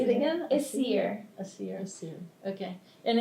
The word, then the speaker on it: Essyre: I didn't know how to pronounce that. Essyre. Say it again. Essyre.